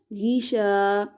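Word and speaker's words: غشا: ہجے کرتے ہیں غین زیر غی شین الف زبر شا غیشا. الف سے پہلے زبر آ گیا تو الف مدہ ہوگا یعنی اس کو ایک الف لمبا کریں گے.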